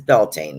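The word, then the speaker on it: Beltane: so this one is for spring this is belan that's how I pronounce it it's b l t a n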